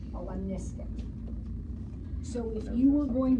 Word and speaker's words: lemniscate: That's called a lemniscate. But if you mispronounce it, you could say lemniscate figure 8.